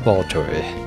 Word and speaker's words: Baltoy: A Baltoy. Oh, appropriate that its name rhymes with destroy.